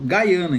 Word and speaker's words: Guiana: Lá eles pronunciam Gaiana, inclusive. Eu pronuncio Guiana e algumas pessoas lá pronunciam Guiana. Mas assim, o pessoal na fronteira pronuncia Gaiana.